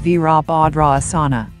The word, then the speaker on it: Virabhadrasana: asanas or yoga poses the asana is pronounced as veerabhadra asana warrior pose one is